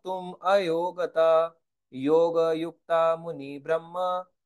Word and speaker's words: ब्रह्म: लग जाएगी तो यह ब्रह्मा हो जाएगा यह ब्रम कहलाता है इसलिए इसको ब्रह्म पढ़ना चाहिए इंग्लिश वाले जो वर्जन